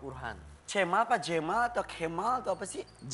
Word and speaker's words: Cemal: Jamal atau Kemal atau apa sih? Jamal. Tapi tulisannya C. Iya, di Turki C itu dibacanya J.